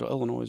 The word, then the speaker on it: Illinois: Is it Illinois or Illinois? Illinois. Never pronounced Aurora, this. Illinois. It's like saying Wyoming.